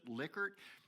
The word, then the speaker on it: Likert: called the Likert scale, Rensis Likert, or how he pronounced it, Likert.